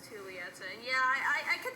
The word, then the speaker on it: Julieta: you do pronounce it julieta and not julieta because um it's in spanish and in spanish you pronounce j's as a like an h so it's pronounced julieta and yeah i i